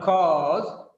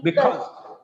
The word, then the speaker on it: because: Not cause. Don't make it longer. Because. Because. Not because. It's not because. Sound should be there.